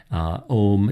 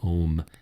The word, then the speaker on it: Om: Om is often pronounced in a very, very, very prolonged way, accompanying some of these long exhalations that I've described here already.